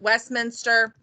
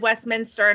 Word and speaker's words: Westminster: And this is where I can put Westminster. Yes, I said Westminster, not Westminster.